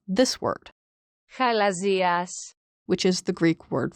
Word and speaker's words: χαλαζίας: is very, very similar to the way you pronounce this word, Χαλαζίας, which is the Greek word for quartz.